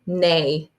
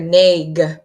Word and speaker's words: neigh: And then the last silly one, horses say neigh. And when I'm reading that, I just hear N-A. I don't really hear neg because you don't say the GH.